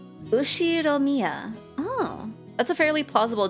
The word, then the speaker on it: Ushiromiya: His name is written like this, pronounced Ushiromiya George.